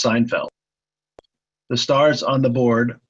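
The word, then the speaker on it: SNFLD: spelling of the SN f LD arrival is pronounced Seinfeld the stars on the board are locations of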